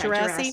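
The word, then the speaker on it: Djerassi: Am I pronouncing that right? Yeah, yeah, Gerasi.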